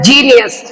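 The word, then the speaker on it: genius: sorry ई आई वाई इन तीन में से कोई भी लेटर जी के बाद अगर आता है तो सिंपली हम वहां पे जी को जा बोलेंगे जैसे जी ई एन आई यू एस जीनियस जी ई आर ए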